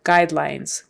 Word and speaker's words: guidelines: a brand a brand guidelines guide that forget the U it's a long I guide lines so two long eyes in those two syllables guidelines and the S at the end is a z guidelines guidelines brand guidelines